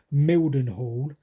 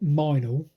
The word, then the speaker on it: Mildenhall: Now you look at a map and you pronounce it Mildenhall, but apparently all the yokels pronounce it Minal.